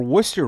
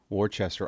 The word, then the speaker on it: Worcester: And for Worcester right now, they phonetically write that so people don't call it Wartchester.